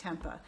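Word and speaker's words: tempeh: anyone pronounce that but I think it's pronounced Tempa which is a type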